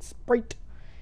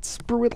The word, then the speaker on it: Spruit: As you can see, my name up in the top is still Sprite. If you want to know, that's my name, and that's how you pronounce it. Not Spruit it like the telemarketers.